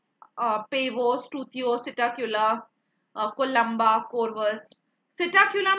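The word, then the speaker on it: Psittacula: सिटाक्यूला में P silent है, ठीक है?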